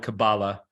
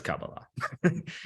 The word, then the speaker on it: Kabbalah: known as Kabbalah and yes you can call it Kabbalah but it's Kabbalah Hebrew is a language where if you're pronouncing it correctly the last syllable is typically the one to be to dominate Kabbalah I am not sure